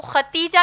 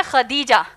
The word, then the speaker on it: خدیجہ: ہم عام طور پر ان کو ختیجہ کہتے ہیں، دراصل نام ہے خدیجہ جس کے ہجے ہیں